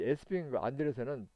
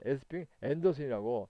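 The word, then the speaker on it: Esping-Andersen: 그리고 참 저기죠 말씀을 안 드렸는데 이 에스핑 안데르센은 책에 따라서는 에스핑 앤더슨이라고 이렇게 앤더슨이라고도 발음을 하고 있습니다. 그래서 여러분들이 책이나 이렇게 복지사 시험문제를 보면은 에스핑 앤더슨이라고도 많이 씁니다. 앤더슨. 그러니까 요것이 요 ANDR 이 SN이 영어식으로는 앤더슨입니다. 그래서 이거 갖다가 에스핑 앤더슨이라고도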